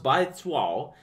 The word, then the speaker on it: Baizuo: going to find this by Zoo pronounced by Tao is a Chinese epithet